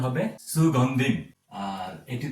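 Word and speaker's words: সুগন্ধিম্: পরবর্তীতে আমি সুগন্ধিম। এটি অনুস্বারের উচ্চারণ আমি একটু আগে আপনাদেরকে বললাম অনুস্বার উচ্চারণ হবে ম। সেক্ষেত্রে এটির উচ্চারণ হবে সুগন্ধিম।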